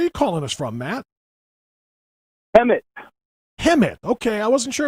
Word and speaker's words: Hemet: Hemet.